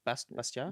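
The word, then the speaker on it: Bastiat: with a quote from is it pronounced bastad I've never read it out loud it's bastia bastia bastia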